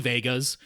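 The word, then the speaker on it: Wega: TVs uh the Sony Vegas uh wga but pronounced Vega um the Sony Vegas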